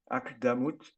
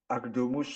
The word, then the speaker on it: Akdamut: C'est un piyut écrit en araméen, akdamut, akdomus en prononciation ashkénaze, et qui signifie en quelque sorte introduction.